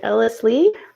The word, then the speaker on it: Ellis Leigh: Is it Ellis Leigh? Yep.